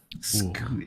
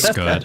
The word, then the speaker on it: Scud: Is it Scood? Is it, or is it Scud? It's Scud. Is that how the French pronounce it? Scoot? Scood. Good. It's good, yeah. Scoot. Scoot. Scoot. In some regions, they call me Scood. But it is Scud.